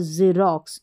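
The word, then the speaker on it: Xerox: जैसे स्वन में पढ़ा एक्स को एक्स एक्स यह और एक तो उच्चारण एक्स और एक ज एक्स मिस्ट्री और जेरोक्स इस तरीके से दो उच्चारण है मिनिमम स्पेलिंग्स है तो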